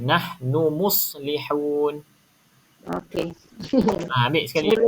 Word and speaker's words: نحن: double nun ni. Satu je Ha? bacanya. Satu je nun. Nahnu muslihun.